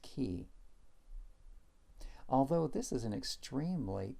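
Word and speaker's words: כִּי: back to the same Hebrew word which is pronounced key although this is an extremely common Hebrew particle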